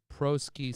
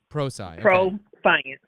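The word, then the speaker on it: Prosci: Strategic advisory, change management, uh pro uh proski certified change leadership. I might have pronounced that wrong. Pro science. Oh, like pros science.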